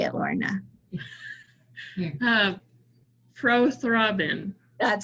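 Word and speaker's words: prothrombin: you say it you say it lorna uh pro-throbbin that sounds beautiful okay all right thank you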